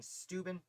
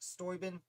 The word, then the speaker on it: Steuben: baron von stoyben which i have a bad habit of saying steuben i believe it's pronounced stoybin um i just did